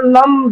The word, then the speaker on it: लम: और इसका उच्चारण ऐसे होगा, ओम त्वमेव साक्षात श्री लम नमो नमः। श्री लम नमो नमः। श्री लम नमो नमः। यहाँ लम, यह हमिंग साउंड, जैसे नाकों से या मुझसे आता है, लम लम वम, ऐसे।